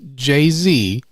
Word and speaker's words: Jay-Z: Yes, it is still pronounced Jay-Z as the Y is a stylistic choice.